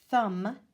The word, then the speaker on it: thumb: with the silent g thumb with the silent B at the end comb with the silent